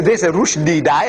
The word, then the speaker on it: Rushdie: And Rushdie, see, Rushdie should be spelled rightly the way we pronounce. Rushdie, R-O-O-S-H. Rush. D-E-E-D. Rushdie.